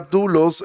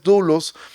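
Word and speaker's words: δοῦλος: en griego significa esclavo siempre que tuve la palabra dulos siervo Perdón es doulos en el Nuevo Testamento se escribe doulos que significa esclavo entonces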